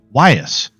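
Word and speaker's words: Ewyas: How to pronounce Wyas. Wyas. All right.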